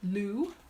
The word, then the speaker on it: Lugh: seen it Lughnasa and Luna saw the god loo that L ugh it's pronounced loo and so a celtic celebration around